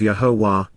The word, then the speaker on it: Yahowah: and concerning, on behalf of and according to, Yahowah, the proper pronunciation of Yahowah, our Eloah, God as directed in his Torah, teaching regarding his Hayeh, existence and our Shalom, restoration.